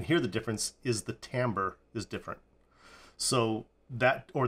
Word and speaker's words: timbre: you what I found out timber is actually pronounced Tambor so that's the first thing I'm not pronouncing it right it's not timber it's Tambor even though it is spelled t IM bre